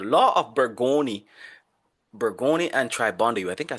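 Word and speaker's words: Tribondeau: So, the law of Burggoni, Burggoni and Tribond, I think I spelled that wrong on some part of the slide. Law of Burggoni and Tribandeu, that's how you say it.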